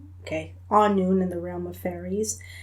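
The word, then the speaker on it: Annwn: Um, and it's pronounced a noon. Okay, anon in the realm of fairies.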